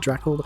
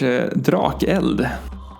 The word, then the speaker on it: Drakeld: Is it Drackle? Can I pronounce their name? Should I pronounce it in Swedish? Drakeld.